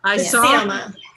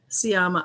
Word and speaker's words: Sciamma: Alex, you found out the exact pronunciation. Sciamma. Sciamma.